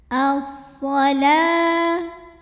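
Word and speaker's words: الصلاة: As-shalah, depan lamnya ada waw tapi wawunya tidak perlu dibaca, jadi lamnya tetap 2 saja.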